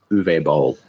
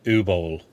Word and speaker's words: Uwe Boll: I don't know how to pronounce his name. It's German. The fact that you made it through the first name, like I couldn't do that. I'm pretty sure it's Uwe Boll.